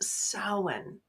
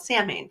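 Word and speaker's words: Samhain: Um, in the Celtic version, it's also known as sin, but it's spelled like Sam Hayne. So many people think it's called Sam Hane, but it's also, you know, All Hallow's Eve, Halloween.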